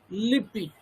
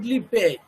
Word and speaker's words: Lippe: His name is Lippi. The pronunciation should be Lippi, not Lippe.